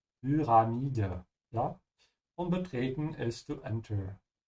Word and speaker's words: Pyramide: Lösung ist Pyramide pronounce Umlaut Pyramide.